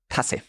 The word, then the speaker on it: Tasse: vowel in front of it is pronounced short. So if you see the word Tasse written, you know, oh, it's not Tasse, it's Tasse. Tasse, okay.